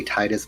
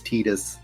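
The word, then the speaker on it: Tidus: lot so we have tetus Lulu I hate say I want to say Titus but it's tetus I hate tetus the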